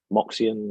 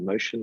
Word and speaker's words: Moxion: We use Moxion or Motion, depending on how you want to pronounce it.